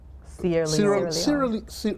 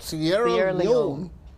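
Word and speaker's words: Sierra Leone: you went to like Sierra leer Sierra Leon say it right Sierra Leon and you know when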